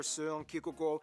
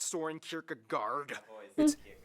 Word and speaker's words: Søren Kierkegaard: Hans Christian Andersen, philosopher Søren Kierkegaard, or whether... That's actually how you pronounce his name. Wow. It's not Soren Kierkegaard.